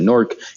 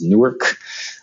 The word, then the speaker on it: Newark: in downtown norc uh norc New Jersey we pronounce it norc you might have heard it as new Yark um I Chang I changed my I don't I don't call it New York it's Newark I mean after spending some time there breakout